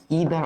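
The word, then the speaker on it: either: আর নেগেটিভের ক্ষেত্রে আমরা ব্যবহার করি ইদার অথবা নাইদার, ইদার অথবা নাইদার, অথবা নিদার অথবা ইদার অথবা নিদার, দুইটাই বানান উচ্চারণ সঠিক আর কি।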